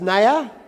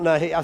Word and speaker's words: Naya: It's Naya, not Nahi.